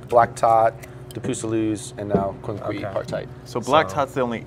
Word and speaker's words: Quinquepartite: do you how do you say Quin partite Quin partite okay and this is the fifth of your